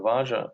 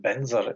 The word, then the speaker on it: vajra: next comes raja guru vaja a sanskrit word pronounced benzer in tibetan refers to the